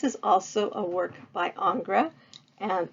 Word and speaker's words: Ingres: And so Ingres, which is how it's pronounced, again, French a neoclassical painter, considered himself